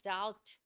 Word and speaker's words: doubt: Doubt라고 하는 건 B는 아예 묵음이고요. Doubt 이렇게 됩니다.